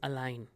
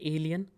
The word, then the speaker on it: allein: But the reply to that, ich kann das allein. I can do that alone. Allein, this is not alien. Some students pronounce it as alien. This is allein, which means alone.